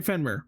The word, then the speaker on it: Fenrir: When I think of Fenmir, Fenir, Fenmir, how do you pronounce it? I'm looking up. We're going to say Fenrir.